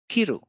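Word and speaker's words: 切る: So if we give stress on the first syllable, kiru, it means to cut.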